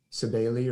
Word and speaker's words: Cybele: That's how I've always heard it pronounced, Cybele, but it's spelled C-Y or K-Y-B-E-L-E.